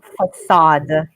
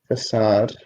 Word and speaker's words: facade: is the outside of a building okay the pronunciation Assad Assad okay good all right and guys if you